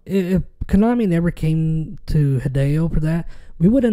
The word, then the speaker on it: Hideo: Yeah, Hideo.